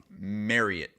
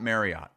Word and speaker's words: Marriott: night we were sponsored by Marriott Marriott it's Marriott that's how it's pronounced it's not Marriott we've we've had it wrong all these years